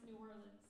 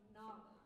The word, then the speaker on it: New Orleans: We've been debating on how to pronounce New Orleans. Either New Orleans, New Orleans, or Nawlins.